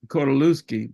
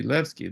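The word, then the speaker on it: Kordylewski: clouds it looks like caloi but that is the wrong pronunciation because the polls say leki they pronounce a w like a V like we say Vagner in German don't we look like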